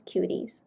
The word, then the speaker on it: Cuties: So even though it's spelled as QTC, it's pronounced as Cuties.